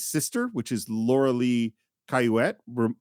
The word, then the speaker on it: Cayouette: We also meet Candy's sister, which is Laura Lee Cayouette, rhymes with bassinet.